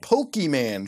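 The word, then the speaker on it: Pokémon: They are called Pokemon, short for Pocket Monster, and pronounced Pokemon.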